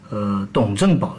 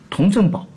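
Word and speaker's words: 佟振保: 董振宝，其实这个字是单人编一个冬天的冬，应该准确的发音是童啊，童振宝。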